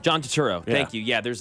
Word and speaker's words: Turturro: Yeah, John Turturro. John Turturro.